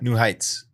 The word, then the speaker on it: New Heights: New Heights. New Heights. There's actually not an H after the T there. New Heights.